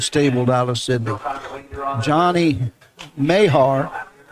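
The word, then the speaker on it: Mahar: out of sydney johnny mayhar m-a-h-a-r mayor or leaving pronunciation he was on the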